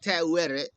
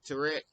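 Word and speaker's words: Taweret: uh the fertile British goddess kind of like tattooed so so for those that's uh um in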